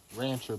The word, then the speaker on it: Wrangler: are the Rancher shirts Rancher but it's spelled with a W see there's another one